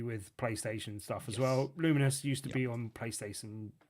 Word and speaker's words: Lumines: devs, it's certainly pronounced luminous, as in a bit like luminos, as in luminosity kind of thing, but luminous.